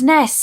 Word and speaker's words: SNES: Arabic this is co Nintendo pronounces this ness that's cuz that's what